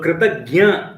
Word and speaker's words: Kritagnya: So Kritagnya is one who is grateful. If you put a gnya over there, it is Kritagnya is one who is grateful. A Kritagna is one who is ungrateful. So very slight difference.